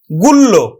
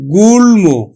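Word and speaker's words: গুল্ম: ল দিয়ে যেমন গুল আমরা মফলার নিয়ম অনুযায়ী কি উচ্চারণ করব গুলল্য গুলল কিন্তু আসলে উচ্চারণ হবে এখানে গুলমু গুলমু তাহলে মফলার উচ্চারণ হল গুলম গয়ে দেখো যুগ্য না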